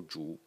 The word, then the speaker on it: 主: And as you can see, the pronunciation of the word main is also zhu.